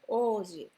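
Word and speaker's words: 王子: So we write Ouji, but we pronounce the Oji.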